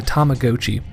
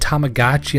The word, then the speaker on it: Tamagotchi: I know they said Tamagotchi in the commercials, but it's a Japanese toy and Tamago means egg, like the egg shape of the toy, so I refuse to change my pronunciation. Now then, Tamagotchi was the beginning of